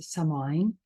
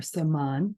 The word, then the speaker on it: Samhain: And so today is Samhain or Saman, depending on how you pronounce it.